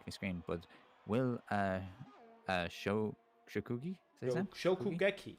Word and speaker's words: Shokugeki: Shokugeki, I think is how you pronounce. Shokugeki.